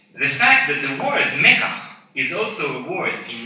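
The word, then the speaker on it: מקח: The same language purists also trying to correct the pronunciation of mekach to its biblical pronunciation, mikach. Who among you know that the word mekach should be pronounced mikach?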